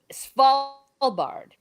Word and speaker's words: Svalbard: helping me out uh svalbard small what he said yeah the d is silent okay it's about a